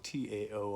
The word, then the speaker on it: Tao: So in this context, Tao, T-A-O, I'm sure you've seen it. The actual pronunciation is with a D, so D-A-O, Tao De Jing, and the way of change or the path of change.